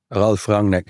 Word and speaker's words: Ralf Rangnick: called Ralf Rangnick at Ralf Rangnick. Right. I would hate listeners to get German pronunciation from someone who grew up in Holland, but this is a better approximation than Mehreen's.